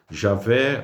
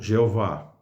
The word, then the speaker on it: Jeová: recurso né dessas de da introdução das vogais de Adonai no tetragrama para para tornar pronunciável aí o tetragrama aí se deu essa essa pronúncia ou Javé ou Jeová que é a forma